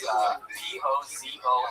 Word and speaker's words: pozole: Now, if you look up chicken, I believe it's Pozole, and it's pronounced pozole for all you fucking gringos out there.